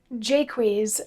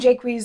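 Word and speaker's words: Jaques: so anyway pedro and jaquez i'm presuming is how it's supposed to be pronounced given the the meter of the lines that include his name pedro and jaquise are two of hieronymous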